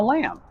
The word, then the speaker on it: lamb: What's a lamb? Well, a lamb is a baby, not a teenager, not a college student, under a certain age, right? And the B is silent.